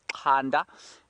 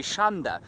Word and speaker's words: Zander: with an X, and if we were to say it in the Zulu pronunciation, it would be Khanda. If it were to say it in the Shangaan pronunciation, it would be Shanda. So you can call him whatever you like.